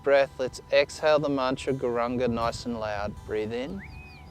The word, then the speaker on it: gauranga: mantra out loud together gauranga four syllables inhale to begin two more breaths breathing in on this next inward breath let's exhale the mantra gauranga nice and loud breathe